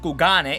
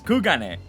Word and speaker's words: Kugane: Worry not, I will return straight away to Kugane once I finish. By the way, that's how you pronounce it. Don't take my word. An NPC said it in Sherleyan. They said it's not Kugane, it's Kugane.